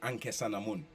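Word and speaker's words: Ankhesenamun: which is a butchering of anke sanamon to King Tut's wife ankh s n Amon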